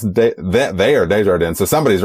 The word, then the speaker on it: Desjardin: I believe the actual pronunciation there is Desjardins. The reason I say Desjardins is because I have heard the Sissy Spacek narrated audiobook, and she says Desjardins every single time.